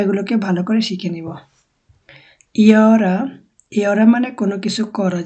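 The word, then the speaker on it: gör: রকম উচ্চারণ করে না, জিটাকে অনেকটা ইর মতো উচ্চারণ করা হয়। যেমন ইয়ার হবে ইয়ার, মানে এটা গোর হবে না।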